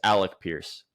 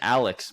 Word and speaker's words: Alec Pierce: getting his name wrong his name is Alec Pierce okay that's what I said you're saying Alex both you saying Alex either way it doesn't